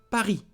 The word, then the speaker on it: Paris: Paris. S is not pronounced. Paris.